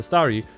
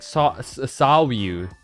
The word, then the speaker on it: Staryu: But back when I was a kid, and Simon was still just a Staryu, I could never pronounce its name right. Always ended up sounding like Sawiu.